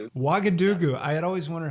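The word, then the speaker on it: Ouagadougou: Wagadoo. Wagadoo. I had always wonder how you pronounce that.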